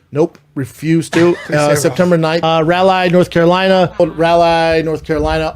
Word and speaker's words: Raleigh: Say Raleigh. Nope. Refuse to. September 9th. Raleigh, North Carolina. Raleigh, North Carolina, August 19th through the 21st. Raleigh? What do you call it? Raleigh?